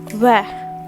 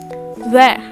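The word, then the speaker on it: vert: pronounced gree gree all right what is green pronounced in french that is where where v e r t where after that what is red called in fringe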